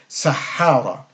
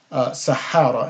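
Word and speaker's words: صحابة: see the two H's those two H's would be indicative of a of a shed death which is a double doubling the consonant so Sahaba would be that pronunciation Sahaba and then we have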